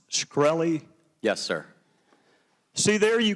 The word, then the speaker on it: Shkreli: your question thank you Mr chairman is it pronounced shkreli yes sir see there you can answer some